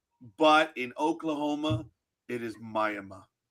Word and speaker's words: Miami: But in Oklahoma, it is Mayama.